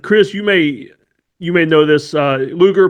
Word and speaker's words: Luger: Luger, pronounced like the old 1990s wrestler, Lex Luger.